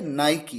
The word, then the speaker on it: Nike: अब देखिए वर्ड है NIKE और किस तरह से इसे प्रोनाउंस किया जाता है, नाइकी। ये एक शूज का ब्रांड है। यहां पर नाइकी के बाद जो ई है उसका अपना साउंड है बड़ी ई का।